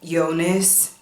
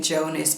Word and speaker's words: Jonas: In the first season, we follow this character, Eva, and she has a boyfriend named Yonas. I have to fight the urge to say Jonas, but they pronounce it Jonas.